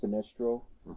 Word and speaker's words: Sinistral: Sinestrial, or is it? In the DS version, it's pronounced Sinistral.